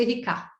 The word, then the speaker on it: Érica: Então, por exemplo, Érica em francês é Erika, né? Então, a sílaba se desloca para a última.